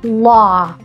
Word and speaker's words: law: for the word like law you can't pronounce it two ways either with the ah as in father or the all as in call so in order to